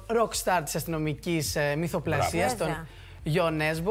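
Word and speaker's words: Jo Nesbø: Κοιτάξτε, στα αγγλικά τον λένε όλοι Τζο Νέσμπο. Ναι, αλλά αυτός είπε δεν είναι Άγγλος. Ναι, το σωστό είναι Γιο Νέσμπο.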